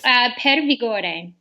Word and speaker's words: Per Vigore: Per Vigore. Perfect. That sounds That's much. With a little bit of Italian jazz to it.